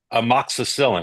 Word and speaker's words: amoxicillin: at a Taylor Swift concert just just hypothetically amoxicillin is that how you pronounce that yes it is yeah is that